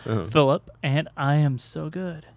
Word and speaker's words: Filup: Uh, my name is Phillip because we've only pronounced it weirdly, so I feel like I should say it normally. Yeah, it's spelled weird but said normal. Phillip.